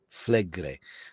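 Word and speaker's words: Flegrei: Fligre? Flegre.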